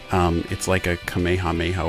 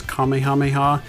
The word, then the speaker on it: Kamehameha: differently over the years some have pronounced it as Kamehameha or Kamehameha and others have said Kamehameha apparently that is the more correct way to say it I'm sure I'm gonna